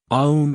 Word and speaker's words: om: others for the soul om is three sounds or vowels a u and m how to pronounce um end with an m like humming sound that tapers off peacefully not suddenly this chant is to